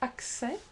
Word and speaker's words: accès: We can think of most words that normally end in S, such as accès or succès. The S is not pronounced.